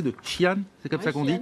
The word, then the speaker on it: Xi'an: ville, alors je vais peut-être très mal le prononcer, de Xi'an, c'est comme ça qu'on dit, voilà, c'est l'ancienne